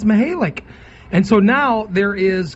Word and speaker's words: Mihelich: Mihelich. Mihelich, right? Mm-hmm. Well, if he pronounces it that way, then well, I don't know.